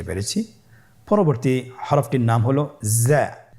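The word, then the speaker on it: ز: উচ্চারণ করার সময় অবশ্যই এক আলিফ টেনে পড়তে হবে, এক আলিফ টেনে পড়তে হবে। হরফটি বারিক হরফ, এই জন্যে পাতলা করে উচ্চারণ করতে হবে।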